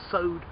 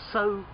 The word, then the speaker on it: sow: s o w so sowed sod to put seeds in the ground with the intention of making them grow to sow to sow seeds but also a female pig is a sow a sow same word